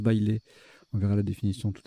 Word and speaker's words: bailé: Bailé, B-A-I-L-E, qui est un nom masculin qui se prononce bailé.